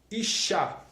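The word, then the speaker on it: אשה: Como se pronuncia a palavra mulher no hebraico? Se pronuncia Isha.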